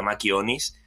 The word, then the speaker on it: machionis: Proviene de una palabra latina que se pronuncia, bueno, se escribe machio onis, pero se pronuncia machionis, y que ya era